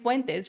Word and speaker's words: Fuentes: I have decided to pronounce his last name in actual Spanish cuz he is part Mexican. Thank god Nick Fuentes represents a dying ideology.